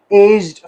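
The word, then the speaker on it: aged: पढ़ेंगे एज्ड ठीक है यहां पर जी और डी के दरमियान कोई सिलेबल नहीं है एज्ड एज्ड लेकिन जब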